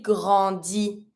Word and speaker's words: grandit: Il grandit, elle grandit. So she grows up, she grows up. Don't pronounce the T.